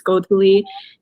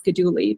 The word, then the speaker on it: Godhuli: a very complicated name it's Godly and honestly for most of my life I passed as goduli because that was just easier for the Western tongue to pronounce and I didn't have